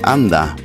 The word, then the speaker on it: anda: to go away and Mexican and Spanish would pronounce this as Anda whereas argentinians would emphasize it in the second syllable once again Amigos thank